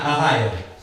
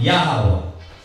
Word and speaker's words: Yahweh: You can go back and say, hold on, his name is not Ahaya. That's not the proper way to say it. We call him Yahweh.